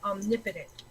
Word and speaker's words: omnipotent: Yes, but the word is pronounced omnipotent. Because it is a compound word.